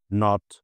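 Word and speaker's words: knot: যখনই খেই এর পরে এন থাকবে, খেই চুপচাপ হয়ে যাবে। যেমন নাইফ, নট, নো।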